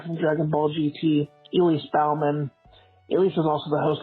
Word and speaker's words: Baughman: You pronounce your last name Baughman, but it's pronounced the same way as Bowman. And some of my family pronounces it Bachman, even though it's spelled the exact same way.